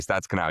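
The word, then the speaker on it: Stadskanaal: What's the pronunciation of that? Stadscanal? Yeah, sorry, Stadscanal, yeah.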